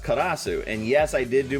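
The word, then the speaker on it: カラス: it is the Japanese for crow, which is pronounced karasu.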